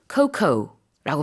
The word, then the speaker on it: cocoa: 영어의 스펠링이 COCOA임에도 불구하고 발음은 영어로 cocoa라고 발음합니다.